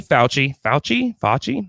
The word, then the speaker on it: Fauci: Number 4, Anthony Fauci.